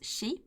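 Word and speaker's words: 四: year because in Japanese, the 4 can be pronounced as shi, which is basically death.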